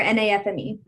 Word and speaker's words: NAfME: NAFME or NAFME?